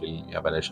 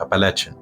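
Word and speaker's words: Appalachian: اما في الجزء الشرقي فهتلاقي جبال الابلاش، مش الابلاش، ابالاتشن.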